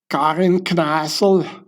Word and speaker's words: Kneissl: The Austrians pronounce it like this, Karin Kneissl.